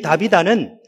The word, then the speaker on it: 다비다: 그런데이 다비다는 헬라식 발음이에요. 아, 히브리식 발음이에요. 다비다.